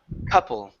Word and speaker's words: couple: next here is couple and instead of Co CLE it's uh C couple couple good a couple miles